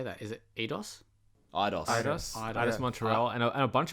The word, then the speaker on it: Eidos: Eidos.